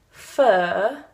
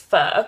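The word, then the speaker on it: phở: But if you pronounce fur in the British way, it's like pho. So we believe that the right pronunciation is pho.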